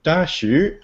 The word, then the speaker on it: Daxu: hook of your game, Dashu. I think that's probably the correct pronunciation. Yes, that's the excellent pronunciation. I always say Daxu because it's easier for people to look up if they know how to spell it.